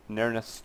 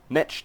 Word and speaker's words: Netch: Nerneth's Touch, or what is it called? Netch Touch. There we go. Got to pronounce it right.